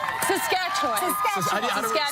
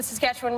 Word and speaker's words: Saskatchewan: Saskatchewan. Saskatchewan. I say it like the Muppet song.